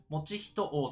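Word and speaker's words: 以仁王: 三王子である以仁王と読みます餅一が動き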